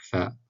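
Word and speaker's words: فاء: Harf al-fa, ça se prononce comme un F français. Donc fa, forme isolée, fa au début d'un mot, fa au milieu, fa à la fin.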